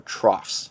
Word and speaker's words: trough: are called valleys or troughs that word TR ough that's pronounced the trough that means it's a